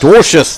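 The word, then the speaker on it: Dwarshuis: How would you pronounce it then? Oh, here we go. Dorcius. Dorcius, that's the one.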